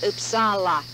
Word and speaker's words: Uppsala: to sweden we discovered it's supposed to be pronounced uppsala as a distinctly swedish community new upseller would